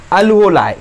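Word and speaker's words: alveoli: तो ये जो सब डिवाइड हो जाता है, that sub division is called as अल्वोलाई। क्या बोलते हैं उसको, अल्वोलाई। क्या बोलते हैं, अल्वोलाई। ओके, स्पेलिंग एक बार करेक्ट कर लेना, अल्वोलाई।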